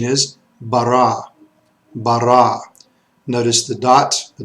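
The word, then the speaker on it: ברא: let's start with this word top left the pronunciation is bara bara notice the dots the dog and Laney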